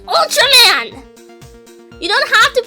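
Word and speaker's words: Ultraman: bring you like a UR Man DVD or whatever and that annoyed me so much because it's Ultram man you don't have to pronounce it Ur man it's it's Ultram man you stupid what's the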